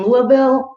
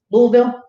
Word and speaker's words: Louisville: by the police in louisville louisville louisville louisville because that's how they say it there that was kentucky right